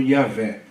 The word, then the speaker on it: Yahvé: O tetragrama em si, geralmente, pelo consenso de muitos eruditos, é pronunciado Yahvé, né?